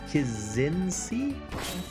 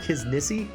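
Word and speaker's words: Kzinnsie: hardness his his kazinski I guess the guy's name is spelled k-z-i-n-n-s-i-e kizinsi I always want to call him his Nissi but that's not it it's like because he's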